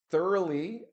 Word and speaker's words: thorough: Now remember this is not through. We are not saying I walked through the house or he went through the tunnel. This word is thorough. Notice the pronunciation.